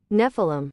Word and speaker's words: Nephilim: I always forget how to pronounce it, though. What, here we go. Nephilim.